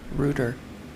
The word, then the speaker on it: Reuter: Braden Reuter. Ruger like the gun? Reuter, Are you, like Roto-Rooter, but it's spelled Reuter.